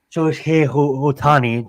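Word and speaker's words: Shohei Ohtani: I'm saying and and for someone like like show he Otani try try to pronounce that correct iy came from Japan looked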